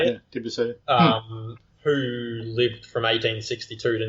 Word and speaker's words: Debussy: Yeah, Debussy.